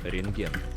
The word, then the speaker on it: Рентген: Рентген. Рентген. Рентген. Рентген. So you see there's a bukva T in the middle of the word, but actually we don't have to pronounce it.